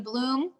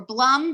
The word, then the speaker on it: Blum: That's the work of Dr. Arlene Bloom, or Blum, depending on how you pronounce it, B-L-U-M.